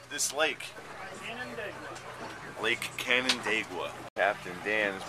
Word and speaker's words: Canandaigua: On how do you pronounce this lake? Canandaigua.